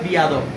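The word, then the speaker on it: بی‌ادب: ফার্সিতে দেখেন যখন আমরা বিয়াদব বলি না, বিয়াদব, বিয়াদব এটা মধ্যে ফার্সি শব্দ। বিয়াদব মানে আদব ছাড়া, উর্দুতে বলে বেয়াদব, বেয়াদব, আর ফার্সিতে বলে বিয়াদব।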